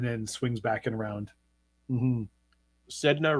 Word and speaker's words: Sedna: swings back and around sedna rhymes with Edna it does 11,000 years